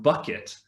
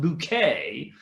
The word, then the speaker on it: Bucket: she's her surnames she's it's spelt bucket but no no no no no she puts a french tone in there and she's always like no no no it's pronounced bouquet to sound but then the the